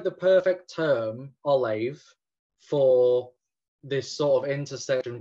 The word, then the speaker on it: Ollamh: But yeah, it's Ollamh. Okay. Like if you have an H after an M, you pronounce it as a V. And the H also indicates that the A is a long sound.